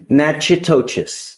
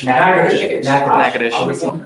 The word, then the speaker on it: Natchitoches: I butchered the pronunciation, but. Natchitoches. Yes, What is it? Natchitoches.